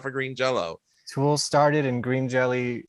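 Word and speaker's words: Green Jellÿ: are a member of green jello or jelly it's spelled jelly but pronounced jello yes well what i've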